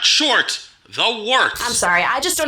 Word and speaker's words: Wort: It's pronounced the Wort. What is it? The wort? Yeah, okay, I'll do that again. This is the Wort on Govs Radio. It is the Wort. Not wart, not fort, not short.